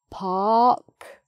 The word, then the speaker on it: park: Park, just an open R and then the K, park.